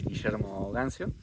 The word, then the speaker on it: Guillermo Gancio: My name is Guillermo Gancio.